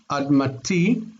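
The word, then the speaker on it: אַדְמָתִי: In this case, the accent is on the end. Admati.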